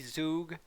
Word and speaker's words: Zug: hot start with evie zug i believe zook is how i was told to pronounce it back on instagram comment